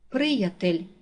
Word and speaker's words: приятель: падає на перший склад приятель наголос падає на перший склад відгомін наголос падає на